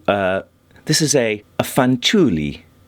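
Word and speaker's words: Fanciulli: this is a a fanuli I think is how it's pronounced it's Italian and it is uh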